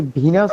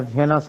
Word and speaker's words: Venus: স্যার এখানে কি ভিনাস হবে না ভেনাস হবে? কারণ আমি অনেকগুলো জুয়েলারি দোকানে দেখছি ভেনাস লাগে ওরা। বাংলায় ভেনাস, যখন ইংলিশে উচ্চারণ করবে ভিনাস।